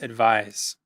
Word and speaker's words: advise: Number three, advice, advise. Pay attention to the pronunciation difference here.